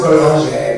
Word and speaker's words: Boulanger: I don't know if it's French. It's pronounced Boulanger, but like...